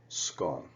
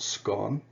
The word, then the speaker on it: scone: the word scum now there's two ways to pronounce it it can be pronounced scone or scone now in our class